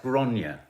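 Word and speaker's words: Gráinne: Can I just say, you were getting her name wrong last night. It's Gronya.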